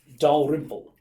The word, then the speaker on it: Dalrymple: So, as written, I understand this name to be pronounced Dalrymple, which is a Scottish name, Raymond Dalrymple, and because